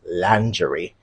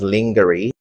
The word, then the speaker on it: lingerie: people say these days is lingerie. That's how it's pronounced and it's not pronounced as lingery.